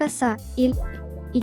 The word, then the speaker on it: 오사일이: романтичные ха корейском языке 5412 произносится как оса и и часто используется в качестве